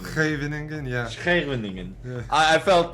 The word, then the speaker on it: Scheveningen: Have you tried to pronounce it the Dutch way? Scheveningen. Scheveningen, yeah.